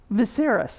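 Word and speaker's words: Viseris: Viserys, that's how you say it.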